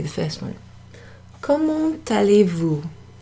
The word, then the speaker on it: Comment allez-vous: Comment allez-vous? Comment allez-vous? Comment allez-vous?